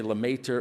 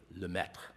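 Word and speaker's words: Lemaître: named Georges Le meth French physicist friend of mine taught me how to pronounce that most most people say la Mater or lametra but I'm told that it's something like lemech uh the founder of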